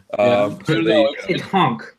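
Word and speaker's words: pétanque: Petanque is how it's pronounced.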